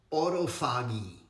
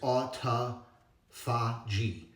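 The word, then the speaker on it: autophagy: all all right guys the the correct pronunciation as you can see here is autoi aagy right is a process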